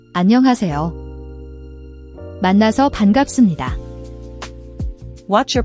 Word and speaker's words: 반갑습니다: The B/P in shift sounds. It's a P sound at the end of and a B sound at the beginning of. The ending is pronounced closer to supinaida.